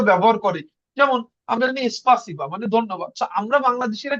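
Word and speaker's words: спасибо: স্পাসিবা, স্পাসিবা রাশিয়ানরা কি বলে? পাসিবা, পাসিবা, শুধু পাসিবা বলে। ইস- ওরা এসটা উচ্চারণ করে না, আচ্ছা।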